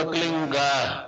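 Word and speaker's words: क्लीं: की मात्रा और बिंदी, उसका उच्चारण होगा क्लीन गा। गा की ध्वनि निकलेगी पीछे।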